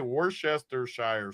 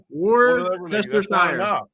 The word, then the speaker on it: Worcestershire: How do you say Worcestershire sauce?